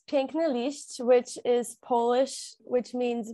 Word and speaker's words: Piękny Liść: And also how to pronounce it. Okay. So it's Piękny Liść, which is Polish, which means beautiful leaf.